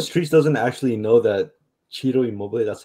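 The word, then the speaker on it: Ciro: I'm surprised the streets doesn't actually know that Cheeto Immobile. That's how you pronounce his name.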